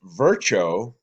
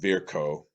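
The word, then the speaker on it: Virchow: then he and then it was virtuo probably pronounced verko but anyway he also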